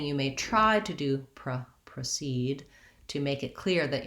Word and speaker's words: proceed: The pronunciation of precede and proceed are basically almost one and the same. I often talk about how the I, the lax I, and the lax schwa, the unstressed syllables, that there's not much difference between those two.